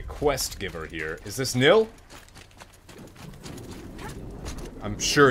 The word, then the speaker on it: Nil: Is this Nil? I'm sure it's Nil.